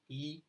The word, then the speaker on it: Yii: E is pronounced as E and it is an acronym for Yes It Is.